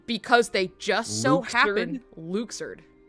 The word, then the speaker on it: Luxord: So, um, so his name is canonically pronounced Luxard and we did we did not know this until Kingdom Hearts 3. Um, because they just so happened Luxard.